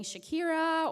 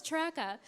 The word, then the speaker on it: Traca: ways different teachers and I remember sometimes hearing Shakira or Shrek or Cherokee and I'm like no it's traca so as someone with